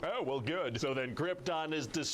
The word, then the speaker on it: Krypton: It's pronounced Krypton.